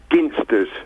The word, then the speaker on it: Ginsters: Well, being a Cornishman, it's Ginsters. Hard G.